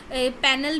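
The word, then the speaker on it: Penal: आईपीसी मतलब Indian पेनल code होती है। पैनल भी बोलते हैं इसको, पीनल कोड बोलते हैं, लेकिन करेक्ट प्रोनाउंसिएशन है इसकी पीनल code, Indian पीनल code.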